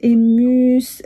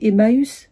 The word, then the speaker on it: Emmaüs: Emma, Emmaüs, elle commence à me dire ça, j'ai dit non, je vois pas de quoi tu parles.